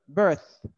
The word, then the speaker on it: birth: don't say birth don't don't pronounce th like a f no don't say it like that say birth birth oh bad okay look